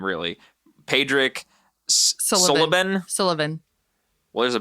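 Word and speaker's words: Súilleabháin: So Pádraic Sullivan. See? This is why we help each other out. Pádraic Sullivan. In a nutshell, yep. Okay. It looks like it wouldn't be that, but it's pronounced essentially like Sullivan.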